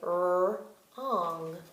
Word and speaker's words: wrong: I don't hear the W, so I would say wrong, wrong.